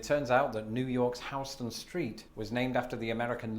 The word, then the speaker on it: Houston Street: attention on Twitter that this is pronounced not Houston Street, but Houston Street.